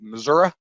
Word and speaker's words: Missouri: As I like to say, my mom is from the great state of Missouri, or if I want to pronounce it correctly, Missouri, and it's the show me state.